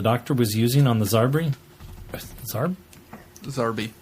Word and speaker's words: Zarbi: It is Zarbi. Oh, okay. Zarbi. Okay. The Zarbi with the necklace. Okay. Tell her you stand corrected. Yeah, Glenn. I stand corrected, Glenn. I thought they pronounced it differently.